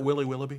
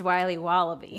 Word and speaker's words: Wiley Wallaby: Can I have a piece of that Willy Willoughby? Wally Wibbly. Wiley's Wallabies. Wallaby Wallies. Wilby Wobbaby. It's pronounced Wiley Wallaby.